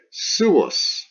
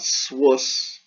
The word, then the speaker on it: suus: sounds so four syllables sue us sue us it's not Swiss sue puffs so two